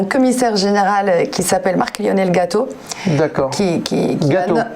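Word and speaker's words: Gatto: Village francophone, on a un commissaire général qui s'appelle Marc-Lionel Gâteau. D'accord. Gâteau, exactement. Comme un gâteau. Oui, voilà. Ça s'écrit différemment.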